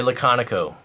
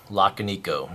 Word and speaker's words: Laconico: be looking at the Ray laconico or Ray lockanico not sure how to pronounce it but I I think it's laconico um so Ray if